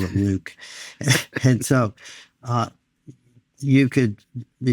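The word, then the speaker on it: LIWC: word count L IWC we pronounce it Luke it doesn't look like Luke but hey it's mine I call it Luke and so uh you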